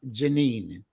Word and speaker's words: Jennen: and carried away so even though your name is spelled as jenin it is pronounced janine yes it's jeanine it's a french name but it's pronounced janine